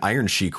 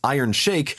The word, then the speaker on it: Iron Chic: first of all he called me out for pronouncing iron Chic wrong because it turns out it is iron shake and she is a character in Super Smash